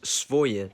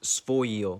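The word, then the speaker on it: своё: It's written as svoye, but it's actually pronounced svoyo.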